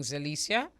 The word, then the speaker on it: Zelecia: Good morning, Zelecia. Am I pronouncing your name properly?